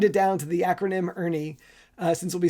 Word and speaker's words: ERNY: The input is a batch of recorded discovery interviews, and the output is what I call the Ernie value, where Ernie is spelled e r n y and it stands for